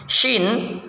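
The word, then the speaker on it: شين: yaitu ada huruf syin syin cara bacanya Yang pertama angkat lidah tengah ke arah langit-langit keras tanpa menyentuh langit-langit itu ya sya sya sya sya e gitu ya kemudian yang berikutnya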